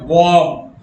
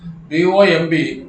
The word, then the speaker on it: bomb: to another paragraph cymb but b is the silent you have to pronounce only hope the same way bomb b-o-m-b but you have to say bomb i took a look